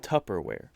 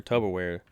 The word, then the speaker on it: Tupperware: where he's like yeah there's no tub in it it's tupperware and the guy was just absolutely he was floored that it was tupperware and he's like so you're telling me he's got like a doctor degree or whatever and he's like so you're telling me all these years when i tell people that they need to bring their tubberware i was just saying it wrong the whole time so